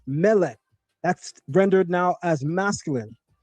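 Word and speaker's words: מלך: Consider the word for king, which is pronounced mele.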